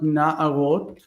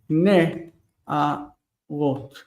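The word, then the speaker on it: נְעָרוֹת: But in the plural, it's not na'ara, it's not na'arot, but it's ne. Ne, arot.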